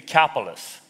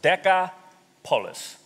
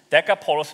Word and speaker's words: Decapolis: right this is the capitalists there are the capital is not really the capitalist the the way you actually pronounce the capital is deca police deca police decapolis means ten cities okay there were literally